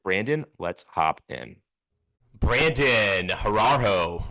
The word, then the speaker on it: Horoho: The last name is pronounced Horoho.